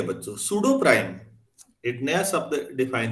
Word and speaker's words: pseudo: सूडो prime, सूडो मतलब छद्म, झूठा। तो सूडो जब भी लगेगा किसी के आगे तो पी साइलेंट होगा।